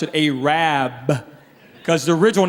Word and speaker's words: Arab: who's minding the store let tell about aab it's spelled a r a b they don't pronounce it Arab they pronounce it aab cuz the original name was aad but they